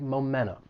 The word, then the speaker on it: momentum: Sometimes when the T follows an N sound, it may elide and it gets removed. And this happens with words like internet or center. So, if you're in the United States, you may hear somebody drop that T and it's going to sound like momentum.